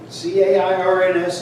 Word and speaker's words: Cairns: C-A-I-R-N-S is Cairns.